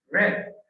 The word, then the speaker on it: read: Read es la forma base. Pero en pasado la pronunciación cambia. Red, como te digamos rojo en inglés.